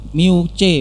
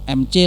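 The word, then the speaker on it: μC: listrik pakainya mikrokolum ya, mu C bukan MC lah ya, itu bacanya mu C, mikrokolum.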